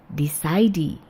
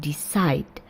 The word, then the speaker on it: decide: Penulisannya berakhir dengan huruf E or I, tapi pengucapannya or the sound ends with the decide. Jadi bukan decidy ya, tapi decide.